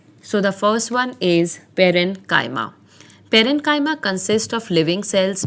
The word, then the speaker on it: parenchyma: tissues or simple permanent tissues, and they are pronounced as parenchyma, collenchyma, and sclerenchyma. Each differs in structure and performs supporting functions. So the first one is parenchyma.